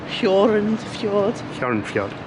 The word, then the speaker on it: Hjørundfjorden: What was the pronunciation for the fjord we visited? Hjørundfjorden.